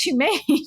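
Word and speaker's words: HUMAIN: Yeah, but it's pronounced humane, which you're still talking about that AI company, Humane.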